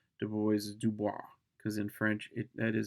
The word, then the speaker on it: Du Bois: most important debates of all times is between Du Bois and Booker T. Washington. Yes, you'll hear people mispronounce Du Bois as Dubois because in French that is how you say it.